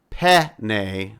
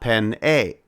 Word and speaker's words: penne: It is penne, not pen-a.